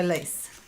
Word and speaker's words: Lise: Pronounced with a Lisa. Pronounced Lisa. Without the A. So Lise.